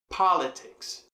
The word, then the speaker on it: politics: Pois bem, em inglês a gente tem politics. Politics. Pa está mais para o início.